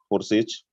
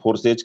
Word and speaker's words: Forsage: जिसका नाम है दोस्तों फोर्सेज। कुछ लोग फोर्सेज कहते हैं, कुछ लोग फोर्साज कहते हैं। इट्स अप टू यू, आप किस नाम से प्रोनाउंस करें।